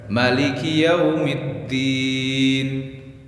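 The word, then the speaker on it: مالك يوم الدين: Pembacaan Maliki Yaumiddin itu ada dua versi. Ada yang dipanjangkan maknya Maliki Yaumiddin. Ada yang dipendekkan Maliki Yaumiddin. Dua-duanya sahih menurut qiraah sab'ah.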